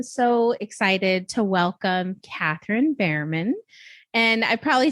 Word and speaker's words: Bermann: Today, I am so excited to welcome Katheryn Bermann. And I probably said it wrong that time just to say it wrong. Bermann.